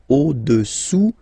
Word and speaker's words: au-dessous: Au-dessous, final S not pronounced, du cylindre.